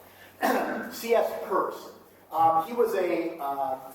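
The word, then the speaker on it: Peirce: That name is pronounced purse. CS purse.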